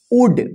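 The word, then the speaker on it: would: इसको क्या पढ़ेंगे देखिए डी से पहले एल आया है तो साइलेंट रहेगा उड उड का मतलब क्या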